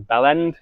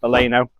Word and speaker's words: Baleno: So after doing a bit of research and getting the name wrong, because I thought it was Bellend, it's Baleno, I found out that they retail around £2.40.